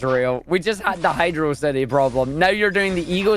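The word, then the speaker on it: Hydrocity: the logic then they're going to go straight back to Velocity and well that is a cool word and is what the game does it is not how Hydro city is pronounced look it's not my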